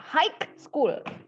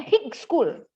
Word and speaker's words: high school: Now, hike dan hick salah. Cara pengucapannya adalah high school. High school kayak gitu. High school. Jadi huruf G dan H-nya tidak ya, dia silent. Artinya tidak diucapkan.